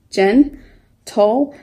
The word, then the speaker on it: gentle: here we have gentle it's two syllable word you see the central dot just between the N and T Jenn toll the G is beside e making it a soft G sound which is just sad